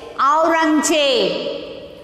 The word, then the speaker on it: Aurangzeb: So next you see A U R A N G Z E B. Aurangzeb. How to pronounce this? Aurangzeb.